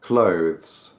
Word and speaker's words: clothes: Business, clothes, not clothes, just clothes.